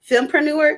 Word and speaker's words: Fempreneur: so at the um though I always get it wrong filmpreneur that's how you say it okay at the